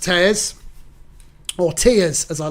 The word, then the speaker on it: Theoz: Theoz, if you didn't know, is pronounced Theoz, or Tears, as I like to call it, which is exactly how I felt when this qualified.